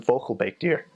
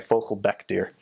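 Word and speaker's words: vogelbekdier: A platypus in Dutch is in focal baked deer. I mispronounced that. Sorry. Focal beck deer. Beck and bake are different.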